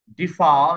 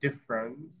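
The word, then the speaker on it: difference: দেখবা যে double F এর পরে যে ই আছে না, ওইটার প্রোনাউন্সিয়েশন নাই, ওইটার যে ট্রান্সক্রিপ্টেড সাউন্ড, এটাকে আমরা শোয়া সাউন্ড বলি, যেটা shortest possible vowel in English language. ডিফা না বলে ডিফারেন্স এরকম করে বলবে।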